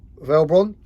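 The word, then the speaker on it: Velbon: of ebay or amazon now it's made by velbron that's how you pronounce it because it's a really nice steady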